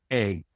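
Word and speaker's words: Eigg: pioneers of land reform on the island of Egg where we got it back out of private ownership and to community ownership, a community of um now over 100 people.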